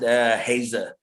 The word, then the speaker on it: Heiser: Yeah, you pronounce it Hazer. But Hazer. a lot, All right. yeah. Don't worry, a lot of people, some people have actually pronounced it like that.